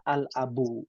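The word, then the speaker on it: الأب: Abun dari abun ditambahkan alif lam, alnya dibaca al-abu.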